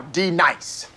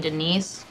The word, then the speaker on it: D-Nice: Now, D nice. Do you mean Denise? Son of a bitch! You say your name right now. Denise? Say it right. Denise. Correctly. Denise. Right. Denise. Right. D-nice. That's better.